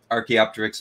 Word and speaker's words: Archaeopteryx: Archaeopteryx.